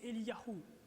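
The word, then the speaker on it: Eliyahu: nom de Dieu et leur nom se prononce ainsi pour Ie c'est elahou pour Jérémie c'est yeremiahou et et donc le nom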